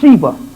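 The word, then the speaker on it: Siva: The Sheba, or Sheba, I think it's pronounced Sheba.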